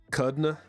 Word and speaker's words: Kudrna: The R is silent. Kudna.